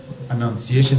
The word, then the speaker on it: Annunciation: If you are writing notes, Annunciation is spelled A-N-N-U-N-C-I-A-T-I-O-N. Annunciation, the Annunciation to Mary. It is Annunciation coming from announcement.